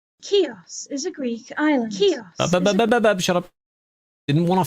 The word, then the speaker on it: Chios: How to pronounce Chios. Turismo. Ah. A few other different ways of it being said. Alright, let's see what these voices think. Chios.